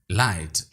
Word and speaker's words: light: Light blue, light. GH इस word में silent है।